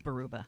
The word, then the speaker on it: Baraboo: It's like it looks like it keeps reminding me of Hart's Barracuda, but it's like Baruba. It is Baruba. Is it I believe. Baruba?